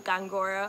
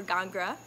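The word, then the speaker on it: Góngora: is fine with me last name Gong gonna accent over the first oh I know it's a little bit hard to pronounce I answer to gongura or ghagra it is my maiden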